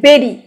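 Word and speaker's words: bury: বেরি মানে হচ্ছে এর উচ্চারণটা অনেকেই আমার স্টুডেন্টরা বুড়ি বুড়ি করে, বুড়ি না, এটা হচ্ছে বেরি, বয়কারে রয় রস্যিকারে।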